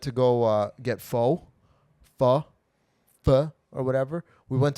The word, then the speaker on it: pho: It's fu. Let's put that. But I say it the North American way. Fo.